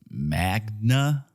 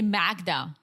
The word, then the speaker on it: Magda: So, yeah, apparently Joe thought her name was Magna, like Magna Carta. But, dude, it's spelled with a D. Yeah. Why would you, even if you pronounce it in an American way, you would still say Magda.